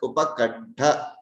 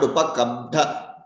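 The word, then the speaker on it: उपकण्ठ: But the thing is that you have to be very careful and you have to pronounce it as upakantha and not upakamtha.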